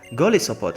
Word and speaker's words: Golisopod: It says Golisopod.